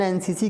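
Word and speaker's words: NCC: इज राम इज एन एनसीसी cadet तो यहां पे देखिए एन भले एन व्यंजन है लेकिन साउंड तो स्वर है यहां पे और हमें साउंड ही देखना होता है तो जब आप एन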